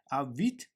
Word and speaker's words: Vite: So I'm inside of official documentation of Vite, and let's head on to get started with Vite. So Vite is a French word pronounced as vite, and it means fast.